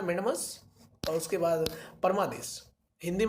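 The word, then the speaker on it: mandamus: आप वैसे भी देख लीजिए, मैंडेमस इंग्लिश में कहते हैं मैंडेमस, इसका सही प्रोनाउंसिएशन है मैंडेमस, और उसके बाद परमादेश हिंदी में कहते हैं परमादेश।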